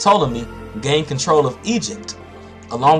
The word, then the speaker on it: Ptolemy: Ptolemy, pronounced Ptolemy, gained control of Egypt, along with most of